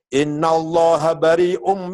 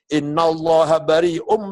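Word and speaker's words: إِنَّ اللَّهَ بَرِيءٌ: dan Steve kontennya ada orang baca Quran salah innauloha barium Minal musyrikin warosulih alam tuh Allah tidak melindungi orang musyrik dan tidak melindungi rasul-nya salah bacanya harus inallahha barium Minal musyrikin nama Rasulullah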